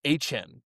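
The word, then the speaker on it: Achane: He came out and said that we've all been saying his name wrong since college, and it's actually pronounced Achan.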